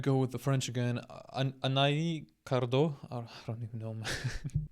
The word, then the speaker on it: Anaïs: Anaïs. Oh, so the double pointed I is like indicating that the S is to be pronounced, I guess.